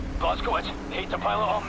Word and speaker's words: Blazkowicz: Blazkowicz, hate to pile it on, mate, but we're in the weeds over here.